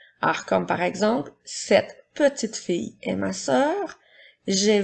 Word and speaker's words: petit: personnes ou des objets j'utilise le mot petit lorsque le mont est au masculin alors il s'écrit puis la dernière lettre T est une note muette alors peut si comme